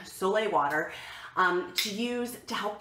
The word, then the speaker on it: sole: about Soleil water itself Sol but pronounced Soleil like the Sun Soleil water to use to